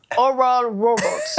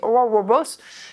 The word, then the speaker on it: Oral Roberts: Vous avez aimé ma prononciation de Oral Roberts? Oui, Bravo, parfait. bravo, bravo. J'ai pas entendu, peux-tu refaire? Oral Roberts.